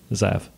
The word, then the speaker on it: Zav: Pronounced Zav.